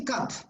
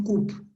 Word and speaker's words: cup: You say cup, no coupe. It's a short sound, cup, cup of coffee, cup of coffee.